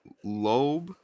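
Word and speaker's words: Loeb: astrophysicist who attended Harvard, his name is Abraham Lobe. Lobe is spelled L O E B.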